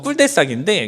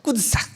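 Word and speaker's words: cul-de-sac: 네, 그러니까 이게 그냥 영어 발음으로 읽으면 꿀대싹인데 이게 불어 발음으로 읽으면 좀 다릅니다. 좀 비슷한데 조금 달라요. 꿀대싹 이렇게 읽거든요. 네.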